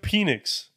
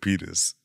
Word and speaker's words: Penix: Bro, so they took penis. Penix. Penix. Penix. Michael Penix. Penix, please. You can pronounce it how you want to pronounce it, bro. I'll pronounce it the right way, bro.